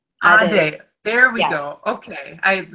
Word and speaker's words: Adey: But if you want me to tell you how it's pronounced, it's Adey. Adey.